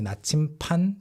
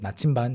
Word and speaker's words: 나침반: which way is north people often say 나침판 too but 나침반 is the standard pronunciation and spelling 부서진 짐승들 짐승 is